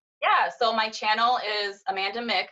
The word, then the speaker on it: Amanda Mc: Yeah, so my channel is Amanda Mick. I know a lot of people say Amanda MC because it's spelled like that, but my last name's, so I say Mick.